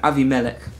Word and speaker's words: Abimelech: he's a threat to abimelech i keep wanting to use the hebrew pronunciation avi melek so he's a threat